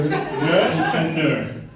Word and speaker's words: Lehanneur: Mathieu Lehanneur.